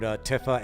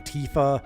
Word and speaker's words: Tifa: characters where no one can agree on the pronunciation. I mean, you have Eris versus Aerith. Yeah. I've heard Tifa and Tifa.